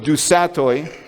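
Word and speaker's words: du Sautoy: Okay, so there's a very prominent British scientist and mathematician by the name of Dusatoy, or something like that it's pronounced, and he actually filled the seat of Richard Dawkins at Oxford University.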